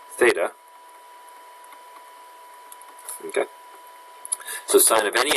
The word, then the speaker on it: theta: just means it's an unknown angle and is pronounced theta okay so sine of any angle would equal